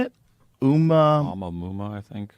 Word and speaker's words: Oumuamua: Oumuamua, I think. Oumuamua, discovered in 2017.